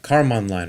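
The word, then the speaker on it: Kármán: So this episode's Nerd Alert is actually about what's called the Karman line. I think that's how you pronounce it. It's spelled Karman. The Karman line.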